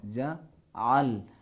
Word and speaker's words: جعل: کی تلفظ نہیں کرنا، اردو کی طرح تلفظ نہیں کرنا ہے، جعل نہ ہو، جعل، حلق کے درمیانی حصے پہ تھوڑا زور لگانا ہے۔ فجعل نکالن لما بین